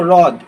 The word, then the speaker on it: হ্রদ: হয়ে র ফলা, যেমন ধরো হ্রদ, ঠিক আছে, অনেকে দেখবে হ্রদ উচ্চারণ করে। এই যে হয়ের নিচে যখন র ফলা থাকে তখন হয়ের উচ্চারণটা সুপ্ত থাকে, তখন রয়ের উচ্চারণ হবে, রস্যই, হ্রদ, এরকম উচ্চারণ হবে।